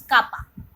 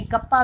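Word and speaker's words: kappa: तो इसको जो है जनरली हम के से डिनोट करते हैं, के मीन्स कापा, ठीक है, कापा बोलते हैं इसको, कापा भी बोलते हैं, कई कप्पा भी बोलते हैं, तो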